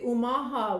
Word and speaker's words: Omaha: And of course, I'm going to bring you the Omaha word. Omaha is the correct pronunciation of Omaha, where we're located, Omaha, Nebraska.